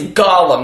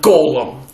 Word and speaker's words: Gollum: Yeah, it's Gollum, not Golem. Doesn't matter how you pronounce it.